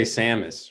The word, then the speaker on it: Samus: is thomas it's almost very good do you pronounce it samus yeah or you can say samus right okay yeah that's like i don't know